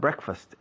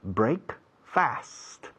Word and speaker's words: breakfast: En inglés igual, break fast. Pero la pronunciación se ha evolucionado hacia una palabra de sonido diferente.